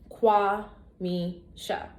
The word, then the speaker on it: Kwamisha: 3 syllables, Kwamisha.